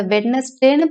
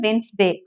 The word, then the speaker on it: Wednesday: இதை வெட்னஸ்டேன்னு ப்ரொனவுன்ஸ் பண்ணாதீங்க, வென்ஸ்டே அப்படின்னு சொல்லுங்க.